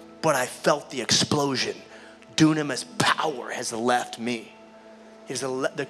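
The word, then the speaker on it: δύναμις: That word in Greek, power, is the word dunamis. It's also pronounced in a different dialect, thinamas.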